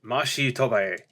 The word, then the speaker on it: Machi Tobai: Allow me to introduce Machi Tobai. Oh, wait. How do you pronounce that, actually? Oh, that's right! His name is a pun on much to buy.